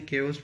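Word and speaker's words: chaos: Pandemonium होगा केओस, इसको चेओस नहीं केओस बोलेंगे।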